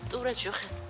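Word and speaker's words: Tous les jours: 메르스 맥시 맥시 뚜레쥬르 뚜레쥬르도 사실상 발음하면 뚜레쥬르 죄송하지만 중간에는 뚜레는 엘이에요 이런 식으로 가능하시면 됩니다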